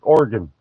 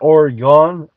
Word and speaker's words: Oregon: Uh, yeah, somebody from Oregon told me that's how you say it, just like Oregon, not Oregon, Oregon.